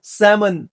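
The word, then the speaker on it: salmon: এইযে এটাকে আমরা বলব আমন্ড এই এল এর উচ্চারণটা নাই আমন্ড কাঠ বাদাম কাঠ বাদাম একইভাবে সমন স্যালমন না স্যামন সমন ফিশ সমুদ্রিক মাছ এটাকে বলি আমরা আইসল্যান্ডে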